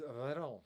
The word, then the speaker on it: Veyron: So from now on, it's Veron.